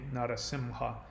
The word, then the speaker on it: Narasimha: And Narasimha is pronounced with even though it's spelled usually M-H-A, Narasimha, it's actually pronounced Narasimha.